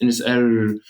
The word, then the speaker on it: Inisheer: in the middle of in our dialect we don't pronounce the h sound so it's just in his air so I think it